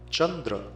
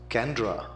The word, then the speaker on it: chandra: does not know that in sanskrit transliteration the single c stands for the cheer sound chandra is spelled as c a n d r a and mispronounced as kandra if you were to